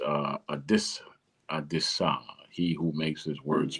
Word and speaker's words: Adisa: It's uh Adis, Adisa. He who makes his words plain, right? A D I SA. Adisa. Adisa. Americans pronounce it Adisa. It's not Adisa. It's Adisa.